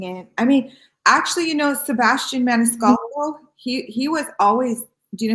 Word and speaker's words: Maniscalco: I can't pronounce that. Maniscalco? Maniscalco. It's like Italian.